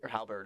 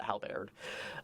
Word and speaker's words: Halberd: stage called hal baird which halberd is pronounced but everyone calls it how baird um it's the songs